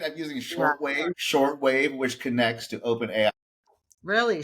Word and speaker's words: Shortwave: I'm using Shortwave, which connects to OpenAI. Really? Shore wave or short wave? But I've been saying the name wrong so much. It's Shortwave.